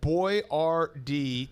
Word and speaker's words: Boyardee: these days he decided to name his product boy r d to help americans pronounce his name correctly yeah he basically was